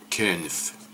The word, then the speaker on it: könyv: I think that's pronounced köniv. Kind. Könyv.